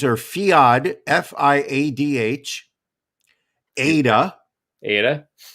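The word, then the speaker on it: Fiadh: i'm not going to the girl names are fiod f-i-a-d-h ada aydah cow hee c-a-o-i-m-h-e cow number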